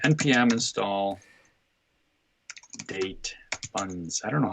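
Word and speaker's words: date-fns: and say npm install date funds. I don't know how to pronounce it. I just say funds. It's not like date functions. It's FNS.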